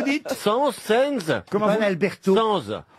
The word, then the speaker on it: Sainz: Sens. Oh, mais enfin, prononcez-le bien. Oui, moi. c'est à l'espagnol, hein, ça que je le prononce moi.